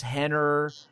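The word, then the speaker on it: Renner: And what you'll discover is they all have names that begin with R, but you make an H sound when you pronounce them. So yes, that's part of the Portuguese.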